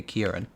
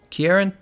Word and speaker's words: Ciarán: not that deep but my name is pronounced like okay Kiran ciarán tail is akhirin tall